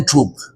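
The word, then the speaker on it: troupe: सैनिकों का समूह सैन्य मंडली टू प्रोनंसिएशन दोनों का लगभग एक जैसा है मगर स्पेलिंग में थोड़ा डिफरेंस है।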